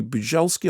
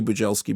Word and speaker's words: Bujalski: It's written and directed by Andrew Bujalski or Bujalski with a J. I think let's say Bujalski, but as we all know, my pronunciations are terrible.